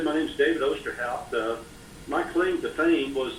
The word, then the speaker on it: Osterhout: I'd like to welcome our guest, David Osterhout. I said your last name right, correct, David? That's pretty close, Osterhout. That's good.